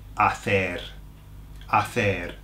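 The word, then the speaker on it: hacer: and the verb is a a now look at that verb the H is silent so what are you left with Asa yeah where do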